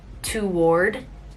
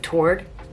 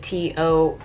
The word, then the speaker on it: toward: Oh, one of my coworkers says toward instead of toward. You know, like, I feel like a lot of people pronounce like something toward something. It's like Toard is the way that someone would pronounce it normally, like toward this, a walk toward that. But he would pronounce like a hard W and would be like toward.